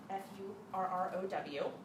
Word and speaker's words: The Furrow: And this was our first content marketer because he started a magazine called The Furrow, F-U-R-R-O-W. Not the Fuhrer, the Furrow.